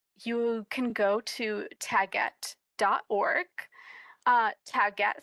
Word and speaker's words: Taguette: Taget spelled like baguette, but with a T.